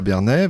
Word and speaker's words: Bernay: La magie de ne pas avoir d'écouteurs, c'est qu'on entend quand on prononce mal le nom de la ville. J'ai eu l'écho, c'est Bernay, bien évidemment.